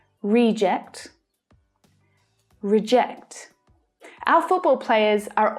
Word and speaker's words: reject: to our decisions you need to suggest alternatives reject and reject reject reject our football players are all rejects from